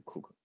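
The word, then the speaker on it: Coke: 库克啊，那个发音是库克，拼写是 Edward Cook 爵士，那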